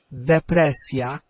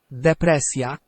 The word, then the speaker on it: depresja: Okay, now, is it S-y sound or Z-y sound? Now, it's an S-y sound. If it's an S-y sound, then we'll do S-J-A. Okay, let's listen to both of those in the Polish. Telewizja. Telewizja. Depresja. Depresja. Okay, and you can make out that, hear that Z-y sound and hear that S-y sound there as well.